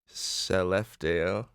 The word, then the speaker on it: Skellefteå: I'm going to try to pronounce the name of her hometown right now. It's Skellefteå.